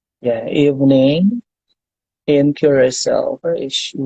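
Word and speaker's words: Curaçao: How do you pronounce it? Is it Curacao or Yes, it's Curacao.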